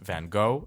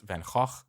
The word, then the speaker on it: Van Gogh: Just like it's not pronounced Van Gogh, it's pronounced Van Gogh, and it's pronounced Famke Janssen.